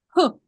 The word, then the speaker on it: whole: to this word and we say whole ho so what is this silent letter yes that's right that's right and here do we say w do we say this w yeah no no it's silent let's say it together